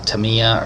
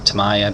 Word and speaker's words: Tamiya: We're using masking tape here, Tamiya or Tamaya, depending on how you want to pronounce it, and we're just getting into every